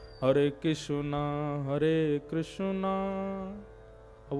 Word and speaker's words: कृष्ण: नहीं, हरे कृष्ण कृष्ण कृष्ण हरे हरे, हरे राम राम राम हरे हरे। कृष्ण शब्द बहुत लोग अशुद्ध बोलते, कई लोग वो कृष्णा बोलेंगे, कई किशन बोलेंगे, कई कृष्ण बोलेंगे, कई कृष्ण पता ही